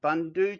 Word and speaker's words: Bundu: recently and explained that I'm not pronouncing the oo correctly on Bundu, so it's actually Bundu Tech, Bundu Top. I think I was saying Bundu Top, Bundu Top, Bundu Tech, Bundu Top, but it's just got to have that oo, like a book. So Bundu Tech, Bundu Top is the correct way of pronouncing it.